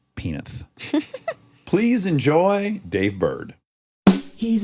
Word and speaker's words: Penith: the entire episode to finally learn how to pronounce but alas I can do it penith he did it which is the Dave soundtrack